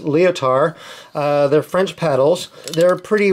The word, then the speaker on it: Lyotard: They're the brand name is Lyotard, which I believe is pronounced Lyotard.